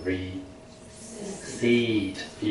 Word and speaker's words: receipt: 试会出现收据叫 receipt，P 不发音的。